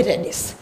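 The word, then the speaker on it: radius: रेडियस या रेडिस जो भी इसको प्रोनाउंस करते हैं। अब देख लेना। ठीक है? समझ में आ गया? इसको बोलेंगे रेडियस।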